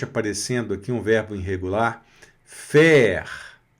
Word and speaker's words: faire: Faire. A mais I da E e o R vai pronunciar, porque o E aqui no final está puxando o R.